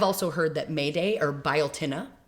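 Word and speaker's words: Beltane: Now I've also heard that Mayday or biotin looks like belt but it's pronounced biotin.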